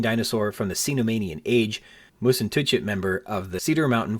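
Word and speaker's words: Mussentuchit: I can't vouch for its validity, but that's why I'm pronouncing it like moose and touch it.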